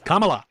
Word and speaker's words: Kamala: Like if if we were in Camala Harris's presidency, Kamala um you sound like a mega that is a genuine that is just a genuine mispronunciation.